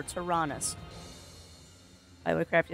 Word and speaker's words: Taranis: Okay, so it's pronounced Taranis? I was way off. Huh. Alright, so I'm way off. Oh! Okay, okay. Oh, I didn't know that. Okay, so it's Taranis. Taranis. Remember, Taranis.